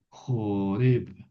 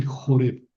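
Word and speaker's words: Horeb: Joreb. Hasta es más hasta lo voy a cabar aquí al monte Joreb. Así se pronuncian.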